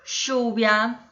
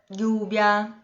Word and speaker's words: lluvia: Chamada, chama, lluvia, que é chuva, que se escreve com LL, lluvia. É muito característico esse som na Argentina, sabe? Enquanto que na Espanha o mais característico é o som do I. Llamada, lluvia. Bem diferente, né?